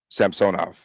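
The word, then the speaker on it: Samsonov: to turn your bur on yeah Sam sonov Sam sonov we're going to stick with that pronunciation like the king them um they're talking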